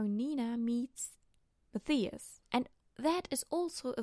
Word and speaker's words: Matthias: this entire story we also see Nina and Matthias. I know they say Matthias in the show, and I know a lot of people pronounce it Matthias, but where I come from we say Matthias, so get along with that.